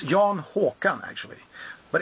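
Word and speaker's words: Håkan: actually it's it's um Haun cuz in Swedish it's spelled with a o which is which is an a with a DOT over and it pronounces o so it's Yan hawan actually but it's interesting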